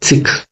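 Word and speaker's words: Sikh: उनको बच्चों सिख बोला जाता है, सिख नहीं सिख।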